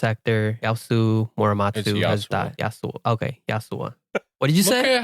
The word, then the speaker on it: Yasuo: Sure, it's Yasuo.